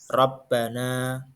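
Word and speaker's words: رَبَّنَا: bacaan ro sat ro Im dibaca tebal apabila huruf ro berharakat fathah contoh Rabbana berikutnya ro berharakat dah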